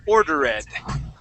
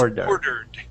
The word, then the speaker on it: ordered: Chardon you had said ordered okay the word is ordered ordered okay uh one more time you want to pronounce that D at the end ordered